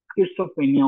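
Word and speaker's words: schizophrenia: ये जो है ना किड्सोफ्रीनिया जो है, जैसे आप जो है वो स्टिजी जो फ्रीनिया पढ़ते हो, पता नहीं क्या क्या इसकी असल प्रोनाउंसिएशन किड्सोफ्रीनिया होती है।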